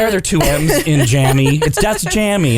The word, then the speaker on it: Jammi: j-a-m-m-i not making the connection that tammy is pronounced correctly so it would be jammy that's the drugs man all right well i